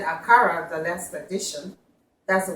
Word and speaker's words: akara: how to make aara I know I said aara the last Edition that's the way Americans say it but we say aara this one a real aara home food from